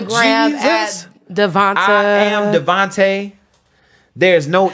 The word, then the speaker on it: D'Vonta: to her I'm like please don't let me call this man Devonte I know I'm a up but call him Devonte yeah but that's how you say it that's actually how